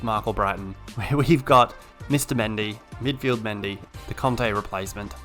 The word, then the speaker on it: Mendy: I know it's Mendy or Mondi if you really want to throw some twang on it. But it's Mendy.